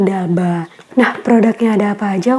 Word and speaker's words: D'Alba: dari Korea Selatan dan walaupun ini ada apostrophe dibacanya bukan the Abdullah tapi daba nah produknya ada apa